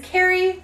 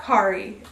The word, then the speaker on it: Carrie: That's right, it is Carrie, not Kari. Common mispronunciation, and that's okay.